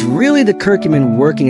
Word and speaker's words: curcumin: the health benefits we hear about, is called curcumin, pronounced curcumin.